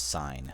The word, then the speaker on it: sin: um but it it it rhymes with dine not with D um or not with in whatever so we we pronounce this s sign s of a sign